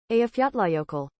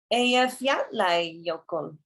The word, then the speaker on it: Eyjafjallajökull: And here's the pronunciation. Eyjafjallajökull. Eyjafjallajökull.